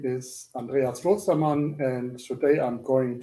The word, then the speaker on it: Andreas: Andreas, is that how I pronounce your name, or did I butcher your name? Sorry about that. Andreas. Andreas, yes.